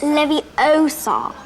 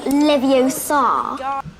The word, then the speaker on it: Leviosa: someone's eye out besides you're saying it wrong it's leviosa not livio hello allison how are